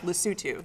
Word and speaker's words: Lesotho: just make sure i can say it right lesotho yes that's exactly it lucille yeah because most